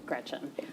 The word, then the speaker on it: Gretch: named after my grandma Gretchen, who I adore. It's funny though, because she always said, never let anyone shorten your name. Don't let people call you Gretch because it rhymes with wretch.